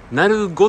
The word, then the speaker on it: 鳴子: 分店なごさんですなごって読むのはねえこれはこのあの当地のねえ落とし飯した方が皆さんそのようにねいわゆるなりというやつですかなります